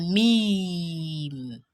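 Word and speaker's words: ميم: Meme is a consonant letter. It is pronounced from the lips. That is, its makhraj as ash-shafatayn or ash-shafatan. Anyhow, it is characterized by the lips closing plus air and sound coming from the nasal passage.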